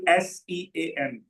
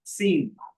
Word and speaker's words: Sean: For example, Sean. For a long time, I used to speak it as Sean. It's Sean. In most of the countries, it's pronounced as Sean.